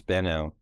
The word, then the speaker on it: Benau: based clinical consultation Psychotherapy and psychological testing Dr banal currently I I think I feel like I'm saying that wrong you say it differently right Dr oh uh it's been out been out okay I have family members who